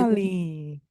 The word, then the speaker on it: Wall-E: pronunciation of this because I want to say it as Wall-E because I'm very British, Yes. and it is, of course, doesn't really work. So we have to say Wally. beautiful. Wow. Wally.